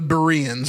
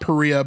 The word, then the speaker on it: Berea: Perea he the Bereans is what she's talking about here. Not Perea but Berea.